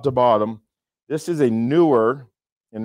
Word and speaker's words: NEEWER: This is a newer, and it's not that it's newer, it's pronounced, it's spelled newer.